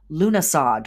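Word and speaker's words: Lughnasadh: the next upcoming Sabbath lunasad or lunasa or llamas it is uh called and pronounced all of these different ways and things um that'll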